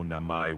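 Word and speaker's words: 名前: Very close. It's Watashi no Namai wa Moin Desu. Watashi no I ma moi. Namai.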